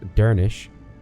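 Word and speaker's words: Dernisc: Dernisk is pronounced Dernish because the final SC cluster sounds like an 8 or SH sound.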